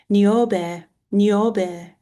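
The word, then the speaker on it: Νιόβη: Uh, in ancient Greek it is Neor.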